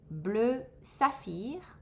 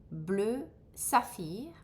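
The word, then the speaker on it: bleu saphir: Blue jun deep blue that's in English so I won't repeat blue safir blue safir blue aby blue abby blue zonar blue zonzar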